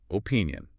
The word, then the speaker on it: opinion: Opinion. And the stress is on the middle one.